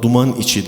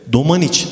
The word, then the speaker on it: Domaniç: genelde bu eserde Kaldım Duman İçi Dağlarda derledim hocam Evet yanlış bilinen bir sözler Evet bu şekilde okunuyor genelde Domaniç dağlarında diye söylenmesi gerekiyor bu eserde arkadaşlar domaniç'te biliyorsunuz Kütahya'nın bir ilçesi zaten sözleri söylediği zaman